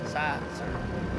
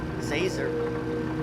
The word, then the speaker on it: Zazer: It's Professor Zazer. Like laser? Zazer. Like laser with a Z.